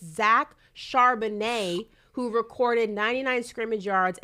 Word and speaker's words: Charbonnet: Charbonnet, it's kind of like the wine.